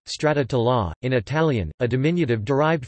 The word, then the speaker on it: Stracciatella: Stracciatella, Italian pronunciation, stracciatella, in Italian, a diminutive derived from the verb